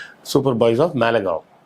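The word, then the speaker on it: Malegaon: அந்த படத்தோட பேர் வந்து super boys app மேலகான் super boys app மேலகாவ். கான்னு போட்டுருக்கும் ஸ்பெல்லிங்க. ஆனா காவ் அப்படின்னுதான் அத உச்சரிப்பாங்க.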